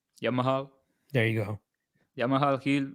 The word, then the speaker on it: Jamahal: Got to pronounce the H. Jamahal.